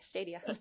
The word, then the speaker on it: Stadia: Long A, Stadia.